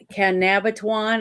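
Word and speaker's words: Cabanatuan: I think it was in Caban Canabatuan is how you pronounce it.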